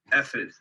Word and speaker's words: ephod: Oh, and I was also gonna say, it's pronounced ephod. So like F and then if you